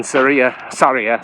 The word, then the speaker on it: Sarria: So the whole point of that is to make you feel guilty for starting in Sarria, is how it's pronounced, instead of starting at the beginning.